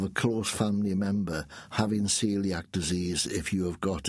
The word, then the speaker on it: coeliac: yeah now it's um it's pronounced celiac disease uh and it looks like coliac like sebco c o e l i a c but it's pronounced celiac disease and um I'm